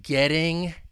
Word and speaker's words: getting: So getting, if I were to pronounce that ing, that ing, ing, Getting would be, with the American accent, a flap T. It's going to sound like a soft D.